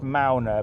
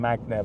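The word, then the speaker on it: Magne: Norway work colleague his name is MAA it's pronounced MAA but it's spelled Magna m a g NE e and I sometimes forget to pronounce it properly I sometimes call him Magna but it's it's malna anyway really really nice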